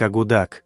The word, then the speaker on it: Akutak: Акутак- блюдо эскимосов Аляски и Северной Канады. Также известно как эскимоское мороженое. Сами аборигены Аляски произносят название блюда как агудак, что с юпикского языка переводится как нечто жирное и перемешанное.